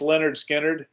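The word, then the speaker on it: Lynyrd Skynyrd: but uh great album pronounced Leonard Skynyrd uh their debut uh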